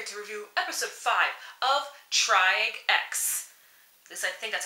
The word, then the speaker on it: Triage X: and I'm here to review episode five of triag X at least I think that's how you pronounce it I'm sticking with that so with